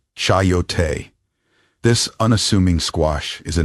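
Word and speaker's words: chayote: First, meat coyote, pronounced chyote.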